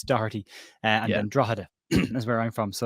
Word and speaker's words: Drogheda: Because I've always thought it was Drogheda. No, it's the GH when you're speaking about Irish places is silent.